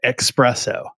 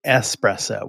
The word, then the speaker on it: espresso: fee if you said expresso which I thought was pretty funny uh and you know if coffee isn't your thing the word is actually espresso with an S there's no X in it but it's one of